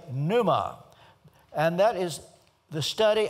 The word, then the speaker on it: pneuma: of June next pneumatology you don't pronounce the p p Neu but the funny thing is in the Greek you do it's panuma the word for spirit